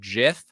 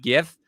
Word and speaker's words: GIF: first of all i noticed that you said jiff and not gif which i have gotten yelled at by everybody